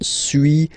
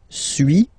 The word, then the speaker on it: suis: So first one, suis, as you've been noticing, you don't pronounce the final S, okay.